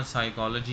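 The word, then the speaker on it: psychology: इसी तरह साइकोलॉजी हम पढ़ते हैं तो उसका पी होता है। अब अगर ये पता ना हो कि पी भी है उधर, तो स्पेलिंग ख़राब हो सकते हैं। तो आपने ध्यान रखना है यहाँ लेटर मौजूद है लेकिन साइलेंट है।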